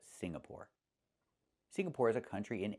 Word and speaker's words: Singapore: It's not Singapore, it's Singapore. The ng makes a sound mm in your nose. Sing, like when you sing a song. Together, Singapore. Not Sing-na-pore, but Singapore.